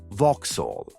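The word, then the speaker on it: вокзал: One of the Russian words for railway station is pronounced Vauhall.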